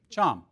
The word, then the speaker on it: chum: Chum salmon, because it rhymes with thumb. Chum.